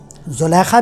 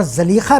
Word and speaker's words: زلیخا: دونوں درست, زلیخا بھی صحیح اور زلیخا بھی درست. جب دونوں درست تو میری ذاتی رائے میں ہمیں اسے اختیار کرنا چاہیے جو عام طور پر رائج اور متداول ہو. جس تلفظ کو ہمارے ذہن قبول کر چکے ہوں تو زلیخا رائج تلفظ ہے, ٹھیک ہے, لیکن زلیخا کو بھی بھولنا نہیں چاہیے. وہ بھی کبھی کبھی اگر یاد آ جائے تو اس میں کوئی حرج نہیں.